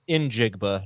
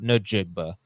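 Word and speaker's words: Njigba: needed to see okay I have been saying his name wrong and I apologize I can't break this habit is in jigba not no jigba I did the same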